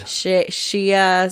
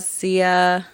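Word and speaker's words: Xia: empires of the void shia sia and whatever if you're it should be shia because that's the chinese pronunciation of x but whatever it should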